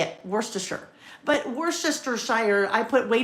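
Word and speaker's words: Worcester: My number one is worister, right? And pronouncing is one thing. Spelling it is a whole other ballgame. Worster. I believe that's how you say it. Worster.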